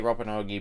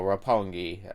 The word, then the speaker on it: Roppongi: My brain always wants to say Roppongi, but no, Roppongi, based on how it's spelled.